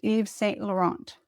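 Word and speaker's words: Yves Saint Laurent: Pronounced Eve St. Laurent.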